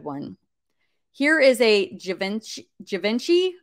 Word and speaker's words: Givenchy: so it looks like the Cherry Amber is a good one here is a Givenchy Givenchy I think is how you say it 849 dollars but no a best offer was taken for 600.